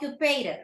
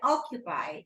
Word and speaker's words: occupied: despite of right deny occupied not occupa right occupied occupied and immediately immediately immediately